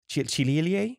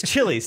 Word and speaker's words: Chili's: Should we put an order and stop at Chililie? Chililie? It's Chili's, dude. Just Chili's, say bro.